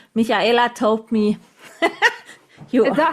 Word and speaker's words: Michaela: No, in Germany we say Michaela. Michaela. Michaela. Yeah, Is that right? the English speaking only German speaking people like Austria, Switzerland, or Germany can pronounce my name correctly. Wow. Because all the others say, in France, for example, they say Michaela. In Italy, for example, they say Michaela, and in the US, an English-speaking person always saying Michaela because they cannot pronounce the sh correctly.